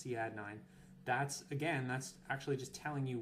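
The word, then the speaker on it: Cadd9: Some people like to call that CAD 9, but it's actually pronounced C add 9.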